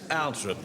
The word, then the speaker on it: Althorp: John Dawlish, Georgina Althorp. It's Althorp, ducky. We don't pronounce the Oh, well, maybe we do.